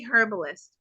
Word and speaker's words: herbalist: I say herbalist because in the UK we pronounce our hes at the front of that word right so everybody's gonna say Liz you mispronounced the word no I say herbalist um you need to